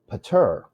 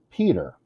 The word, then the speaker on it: Peter: We do not say pater. If the accent was on the second syllable, it would be pater. My name is Pater. But no, it's not. So we got to get rid of that. The first syllable is stressed.